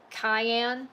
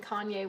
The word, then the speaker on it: cayenne: Um, I mixed up the word I mixed up um, cayenne as in cayenne pepper and Kanye as in Kanye West. So for like eight years I thought they were pronounced Kanye peppers.